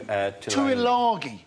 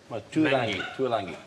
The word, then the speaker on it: Tuilagi: Yeah, Manu Tuilagi. Tuilangi. Well, there's no end in there. If you want to... No, it's his pronunciation of it, actually.